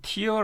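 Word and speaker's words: tear: 찢어진 갈라진 이런 말이에요 이거를 티어 라고 읽으면 눈물이 되지만 이걸 태어 라고 읽으면 찢었다 이런 말이 된다 라는 것을 여러분 꼭 기억해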